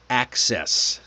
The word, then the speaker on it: access: Let's try access. Access. Hard then soft.